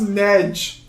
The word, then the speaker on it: Negi: this is lying apparently it's pronounced nedge that it's lying but uh